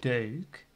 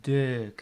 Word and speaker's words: deuk: If you pronounce the words that we pronounce as E, like deuk, as the E, it becomes deuk. And that's more the Belgian accent.